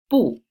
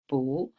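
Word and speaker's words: 不: not boo but see this character has got two different pronunciation one is boo and one is fool depends on what tones of the word after it for example and this one has is the third tone how down and up so we don't change the pronunciation so as oh how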